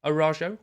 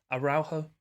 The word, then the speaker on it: Araujo: to stegen ingol mingueza orajo or i did have a little cheeky google i know how to pronounce it i think it's araujo probably still wrong but it's closer and i'm definitely going